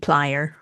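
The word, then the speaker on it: dplyr: Python or dipl I call it D player. How do you say it? D player. D player, right? Yeah. I think some people say dlier, but Okay.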